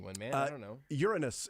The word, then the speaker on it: Uranus: man I don't know Uranus is correct well that's not how I'd pronounce it we also would have accepted your anus we sure would have